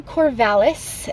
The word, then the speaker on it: Corvallis: go to corvallis i made it to corvallis which is the proper pronunciation i looked it up and it is